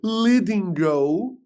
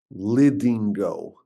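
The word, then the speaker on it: Lidingö: And indeed in a very beautiful suburb of Stockholm, a place called Lingo. It's spelled with like symbols on top of the letters. You've seen that in foreign languages. Lingo.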